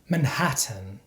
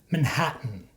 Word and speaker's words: Manhattan: look at some examples this is not how we pronounce these words in standard American English certain Buton Britain WR Martin Manhattan in American English we pronounce these words like this certain button Britain written Martin Manhattan so for example I'm